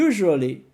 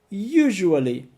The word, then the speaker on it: usually: normally para normalmente e usually. Usually, para geralmente. Sim, ele se escreve com S, mas tem um som de J. Usually.